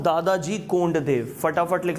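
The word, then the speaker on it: Dadoji: English वाले pronunciation पे ध्यान देना, इट्स दादोजी, हिंदी में दादाजी।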